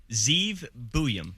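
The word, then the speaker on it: Zeev Buium: Zeev Buyum.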